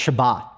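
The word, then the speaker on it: שבת: rested in genesis 2 in hebrew is pronounced shabbat it's where we get the english word sabbath from and again it essentially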